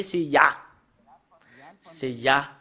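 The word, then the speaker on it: יה: Nous savons très bien, le fait de le prononcer, c'est Ya. C'est Ya, le fait de le prononcer selon la Bible hébreu ancien.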